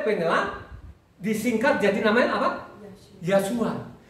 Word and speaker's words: Yahshua: disingkat jadi namanya apa yasua Kenapa saya bilang dia itu yasua ya karena tulisannya Yod he wau Sin Ayin jadi kalau kita baca lengkap itu bacanya yahwe su Amin ya jadi ingat